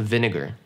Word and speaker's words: vinegar: Не путайте с W. W. Нет. Win. Что такое win? Не знаю, что это такое. И хоть это слово, по идее, как бы похоже на слово vine, произносится оно не так. Поэтому запомните, это просто vinegar.